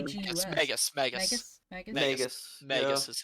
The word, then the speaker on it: Magus: Magnus. Well, there's no N. There's It's no N. M-A-G-U-S. Magus. Magus?